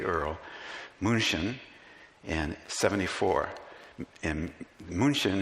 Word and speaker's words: München: And München is the German pronunciation from me, remember, it's not perfect, of Munich.